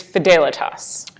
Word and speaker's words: Fidelitas: all for our right yes it is fidelity us I lost that bet